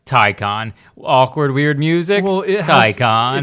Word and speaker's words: Taycan: Taycan.